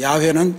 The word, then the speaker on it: 야훼: 야훼께서, 야훼는 여호와의 올바른 발음입니다.